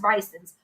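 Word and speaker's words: Brigtsen's: It's the one that just for the listeners, it looks like Brixton's. So you're going to look it up online, BRIGSTN''S, pronounced Bryson's.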